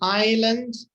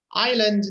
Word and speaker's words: island: The sea, an island, the scenery. Island, the S is silent. Okay? Yes. Island. Island. So we don't say the S.